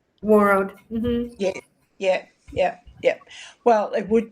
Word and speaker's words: Warroad: Warroad? Warroad.